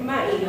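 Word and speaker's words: ma'ii: Now in Navajo, the way you say Coyote, does anybody know how to say it? Okay, I hear it. It's Ma'i, okay?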